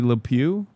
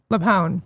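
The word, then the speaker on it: LuPone: Why are people mad at Patty Lew? Leone. I'm sorry. Leone.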